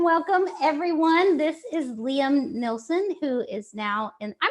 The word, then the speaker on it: Nilsen: anyway hello and welcome everyone this is Liam Nelson who is now and I'm gonna said your last name wrong those perfect oh good Liam used to